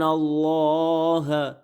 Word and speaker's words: اللہ: آگے یہ جو لائن ہے اس کو میں رواں پڑھا دیتا ہوں، کیونکہ یہ تو بچے کو پتہ ہی ہوتے ہیں، یہ اللہ کے نام ہیں، تو ان کو میں رواں پڑھا دیتا ہوں.